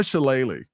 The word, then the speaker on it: Shalala: It was Donna Shalala.